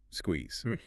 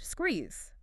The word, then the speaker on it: squeeze: Listen to the skew sound at the beginning. Squeeze. Your lips have to physically come together and then push outward. Practice that active verb out loud. Squeeze.